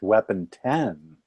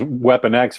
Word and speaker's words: Weapon X: Although now we know it's pronounced weapon 10. Oh yeah, but it was Weapon X for 20 years.